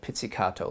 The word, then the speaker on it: pizzicato: o at the end so think pizza cat that would help you kind of memorize how to spell this word so pizzicato all right so we're